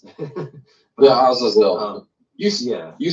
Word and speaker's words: Azazel: And this This imagery is also tied with Azazel, who, we just finished Yom Kippur.